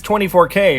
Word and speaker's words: 24K: okay first one well you might think it's 24k or 24-karat it's actually 2 4 k surprisingly this